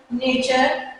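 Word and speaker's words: nature: ई है, तो इन वर्ड्स में टी का प्रोनाउंसिएशन क्या होगा? च की साउंड में होगा। Question, नेचर, पिक्चर।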